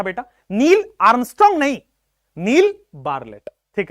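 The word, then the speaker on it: Bartlett: ये साइंटिस्ट साहब थे नील बार लेट तो इनको लिखा जाता है नील बर्ट लट लिखा जाता है टी साइलेंट थे जो लैबोरेट्री में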